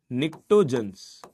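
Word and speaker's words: pnictogens: अंदर आया हुआ है पी साइलेंट रहता है निकटो जनस क्या कहा जाता है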